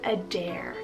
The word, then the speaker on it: Adair: name adair spell a d a i r a dare now this one's both scottish and irish meaning